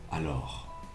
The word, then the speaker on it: alors: Y no es y de otra palabra, de otra manera rara que quizás tú puedas pronunciarla, pues es alors, alors, con una ligera R hecha con la garganta al final.